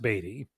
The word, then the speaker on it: Beatty: And my co-host got a message from Scott saying it's pronounced Beatty.